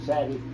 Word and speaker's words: Savate: The style was called Savate or Savate. That's how you say it, Savate.